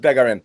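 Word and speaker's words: Bégarin: But is it Begarin? Yep. That's where we're going with Begarin. There you go. You nailed it.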